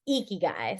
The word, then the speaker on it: ikigai: to pronounce eeky it's eeky guy so e with like a like uh the e sound not the I sound um but okay cool